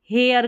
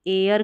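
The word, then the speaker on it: heir: जैसे यहाँ पर देखिए हेयर करके इसको पढ़ सकते हैं, हेयर, तो यहाँ पर एच जो है इसमें साइलेंट है, इसको एयर करके पढ़ेंगे।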